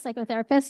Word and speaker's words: psychotherapist: Psychotherapist. You don't pronounce the P, but anyway.